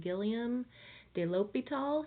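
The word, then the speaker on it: Guillaume de l'Hôpital: was the teacher and hopefully if you've had French you can say his name Gilliam de l'hôpital he was the student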